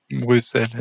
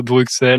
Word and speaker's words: Bruxelles: X euh mais oui oui Bruxelles bien sûr Brussels Bruxelles non et non pas Bruxelles donc franç effectivement francophone français qui V les Français prononcent Bruxelles et les habitants de Bruxelles savent qu'un Français s'adresse à eux quand ils prononcent Bruxelles ah ouais on